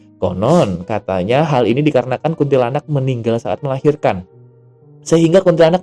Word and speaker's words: Kuntilanak: gue takutin itu adalah Kuntilanak Kuntilanak Kuntilanak Kuntilanak bacanya kuntilanak bukan kuntilanak eh jadi yang lain lagi kuntilanak Jadi yang bener adalah kunti lanak ya jadi Kuntilanak ini